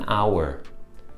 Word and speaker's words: hour: E an hour. Nessa segunda situação, hour começa com H, mas a gente não pronuncia o H, a gente pronuncia o O.